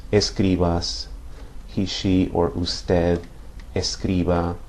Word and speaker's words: escriba: but when you pronounce these, it's important to remember to stress the second to last syllable.